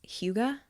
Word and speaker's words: hygge: But it's like the word is Hygge, and I think it's Huga is how you say it. It's a different language, but it's basically like the coziest, most fulfilling, warm kind of day.